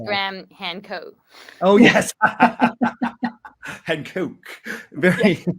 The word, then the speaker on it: Graham Hancock: a a guest on our Buddy Joe Rogan's pronounced gram Han Coke oh yes Han Coke very very good um